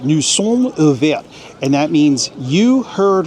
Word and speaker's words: nous sommes ouverts: This says, nous sommes ouverts. And that's how the French pronounce it. Nous sommes ouverts.